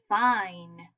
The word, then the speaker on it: fine: with a magic E, I know E makes no sound, but I is not going to say I this time. Now it's going to say I. Listen. Ein. Now what is the word? Ein. Fine. Yes, this is the word fine. Okay.